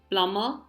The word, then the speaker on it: plumber: the next word is plumber here the B is silent so in the English